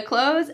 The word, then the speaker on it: clothes: In American English, when we're speaking quickly, that th is really cut out completely.